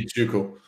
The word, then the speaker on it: Tycho: Tycho. Tycho? Tuco. Tycho, Tuco. That's one way. I mean, the correct pronunciation would be Tuco.